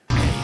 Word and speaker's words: Æt: It goes from eat to ate. But yeah, eight is the past tense of eat. Yeah. But spelled with the weird ae that they use for anemma. 8.